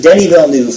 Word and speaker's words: Denis Villeneuve: And it is pronounced Denis Villeneuve for all of you heathens who cannot say it correctly.